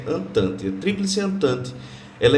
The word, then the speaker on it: Entente: Se escreve Entente, mas se pronuncia Entente.